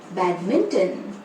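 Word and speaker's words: badminton: इसे सही से बोलने के लिए पहले बोले बैड, फिर बोले मिन और आखिरी में बोले टन। टोन नहीं, टन। तीनों भागों को जोड़कर बोले बैडमिंटन।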